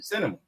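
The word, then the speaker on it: Sinema: Arizona cinema cinema no that's not how you say it is it that's her name Cinema yeah like the movies that's how you said it y okay yeah we'll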